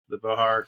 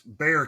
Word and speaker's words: Bexar: on that, and also the Bihar County investigation. So, well, it's Bexar County because I know it's spelled weird, but it just happens